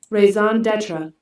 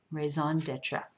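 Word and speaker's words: raison d'être: Okay, and then we've got this French term right here, and I looked this up and I found the pronunciation of it. Raison d'etre. Raison d'etre, okay, and what that means is the most important reason for something.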